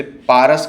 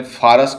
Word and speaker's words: फारस: अरबों की वर्णमाला में प उच्चारण नहीं होता है। इन्हें इसे पारस के बदले फारस कहना चालू किया।